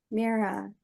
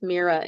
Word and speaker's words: Myra: And I'm actually the fifth Mira in my family, Oh, and it's a family name, and it's spelled unusually. It's Myra, but the Y is pronounced like a double E.